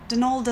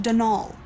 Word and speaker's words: Donal: that was the caretaker Donalda Lanie not Donald mind you there's no D at the end so it's pronounced dnal that's the way you're